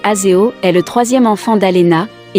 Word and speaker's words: Azayo: Azayo, prononcé Azeo, est le troisième enfant d'Alena, et aussi avec Tom.